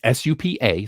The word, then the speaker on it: Supercell: That it's SUPA, so I had to say it correctly.